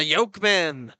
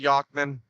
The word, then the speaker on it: Yachtman: starting net minder the yokeman foreign ERS fall down a couple collisions here I call them that but he's uh it's actually pronounced Matthew yachtman and then starting in